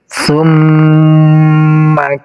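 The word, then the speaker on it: ثم: Di sini ada mim yang ditasydid, namanya ini huruf gunnah. Huruf gunnah itu cara membacanya harus menggunakan dengung, ditahan 2 harokat. Summa, summa. Ditahan dari huruf mimnya 2 harokat.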